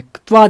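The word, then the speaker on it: क्त्वा: कत्वा, त्वा दिया है, कत्वा दिया है, कत्वा। इसको उच्चारण ऐसे कत्वा बोलेंगे, यानी पूरा क नहीं है, नहीं पूरा त है, उच्चारण करना ऐसे होता है।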